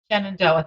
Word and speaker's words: Shenandoah: I've got Laurie in, Dave hasn't given me how to pronounce this, in Pennsylvania. Shenandoah. Shenandoah, thanks, yes, there Dave.